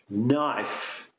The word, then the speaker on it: knife: with a silent k words that start with a silent k things like no the verb to no of course uh knee knife Etc so many times